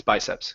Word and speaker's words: biceps: It's biceps.